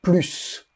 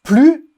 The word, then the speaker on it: plus: français est un plus on le prononce plus sans le S quand il est utilisé